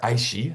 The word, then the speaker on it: ISCHE: Health and the Environment or Aishi. I just learned they that's how they like to pronounce the acronym.